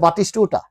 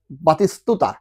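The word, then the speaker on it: Batistuta: আমরা দেখতে লেখা আছে বাতিষ্টটা কিন্তু উচ্চারণ করত বাতিসতুতা অর্থাৎ এখানে যতগুলো ট আছে ইংলিশে যতগুলো ট আছে সেগুলো ত হয়ে যাবে ওকে আমরা কিন্তু প্রথম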